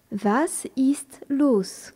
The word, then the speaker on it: was ist los: vocabulaire de ce dialogue vas is los que se passe-t-il vas